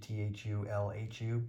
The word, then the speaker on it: Cthulhu: space of the cosmos you're not supposed to be able to pronounce the name because it's an alien language so there is no correct pronunciation for c c-t-h-u-l-h-u people usually say cthulhu